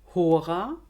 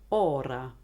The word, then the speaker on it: hora: Ein H im Anlaut wird im Italienischen immer weggelassen. Hora, Ora.